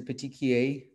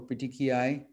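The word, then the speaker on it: petechiae: kind of rare is a petikee or petiki eye however you like to pronounce it these are very tiny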